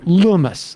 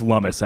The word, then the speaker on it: Lummis: senator uh cynthia lumas lumis am i pronouncing her i think it's lumis actually not loomis llamas she is um she's